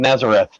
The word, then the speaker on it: Nazaret: in a town Nam Nazareth in in Spanish it's pronounced nazaret the the H is silent but uh yeah that